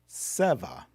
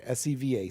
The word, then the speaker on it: seva: There's a Sanskrit word, seva. I think I'm pronouncing that right. S-E-V-A, seva.